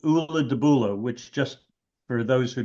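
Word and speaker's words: Ulladubulla: then Ula again, but it's one word and it's pronounced Ula de Bula.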